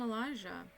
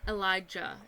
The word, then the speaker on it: Elijah: elijah which you know they say his name is elijah but no one ever calls him elijah anyway and it's not elijah it's elijah just saying um so he